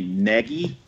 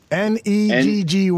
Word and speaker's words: Nagy: It's actually Nagy. Neggy was the phonetic spelling that he listed. Yeah, so really? So it's Matt Nagy.